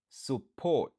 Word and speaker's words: support: Support. Support. Qui signifie supporter. 2 syllabes, n'a pas accentué sous deuxième nan.